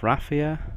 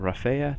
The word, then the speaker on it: Raphia: is the Battle of rapia or rafaa depending on where you're from and how you pronounce it and it is between